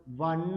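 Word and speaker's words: one: എൻ ഇ എങ്ങനെയാ ഉച്ചരിക്കുന്നത് വൺ എന്നാണ് ഒഎൻ ഇ വൺ ആണ് അപ്പൊ അവിടെയും എന്താണ് എ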